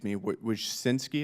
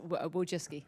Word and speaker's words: Wojcicki: Miss Wojcinski, is that how you pronounce it? Yes, Wojcicki. Wojcicki, okay.